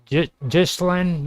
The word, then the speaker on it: Ghislaine: Ghislaine You also know what the had a guys found?